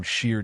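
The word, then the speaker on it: Sidhe: It is tied to the belief in the Sidhi, pronounced she, the powerful otherworldly race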